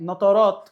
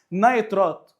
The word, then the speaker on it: نيترات: حمض النيتريك ده ما انت لو شلت الياء والكاف وحطيت مكانها الف وتاء بقت نترات، او بالمعنى الاصح بقى وبالنطق الصح نيترات. طيب عندك نيتروز اللي هي لو شلت الواو والزاء وحطيت مكانها ياء وتاء بقت نيتريت، NO3 و NO2.